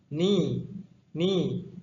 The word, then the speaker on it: knee: hand دست، head سر، knee زانو. در این کلمه گفتم که حرفی که تلفظ نمی شود.